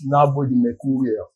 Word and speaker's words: Nabothemercurial: But we call him Nabothemercurial. He's been fantastic. So welcome. Good morning to you. Good morning. Thank you for having me. Did I pronounce the name properly? No, it's Nabothemercurial.